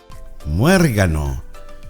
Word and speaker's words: muérgano: Muérgano. Muérgano is a bad person, someone evil. Muérgano. This is a very Venezuelan word. Muérgano. Notice the emphasis on top of the E, that accent.